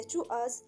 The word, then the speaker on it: TWS: في 22 ديسمبر أعلنت وكالة بليديز للترفيه رسميا أن TWS تنطق مثل كلمة الإنجليزية to us ستترسم في يناير المقبل.